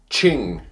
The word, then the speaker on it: Qing: Today, we are taking a look at the FeiyuTech Qing. I don't really like that name. I thought they should have had it pronounced King, but with a Q.